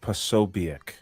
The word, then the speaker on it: Posobiec: But then Jack, how do you pronounce his last name? Awful. Jack Posobiec.